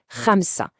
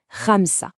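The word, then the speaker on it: خمسة: Ça se prononce Ramsa. Alors attention, ici le son R, il est un peu gutural. Il vient du fond de la gorge. C'est un son très typique de l'arabe. On essaye. Ramsa.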